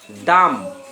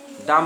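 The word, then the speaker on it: dumb: তাই লেখালাম নাহলে লেখাতাম বিওএমবি bomb bomb মানে বোমা সিওএমবি কোম কোম মানে চিরুনি ডিইউএম বি ডাম ডাম মানে বোবা বোবা মেয়ে বোবা গার্ল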